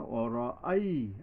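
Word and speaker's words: رأيت: অরই অ র, রা হবে না, অর আই, আলিফ জবর আ উচ্চারণে সাবধান।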